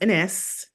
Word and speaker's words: Enesse: I just showed you here, and it's pronounced Enesse.